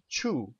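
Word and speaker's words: ĉu: or no question and that word is Chu and it's spelled c with a little hat above it and U so CH and now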